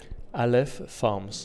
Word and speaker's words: Aleph Farms: who's the chief executive of, how do you pronounce it, Aleph Farms.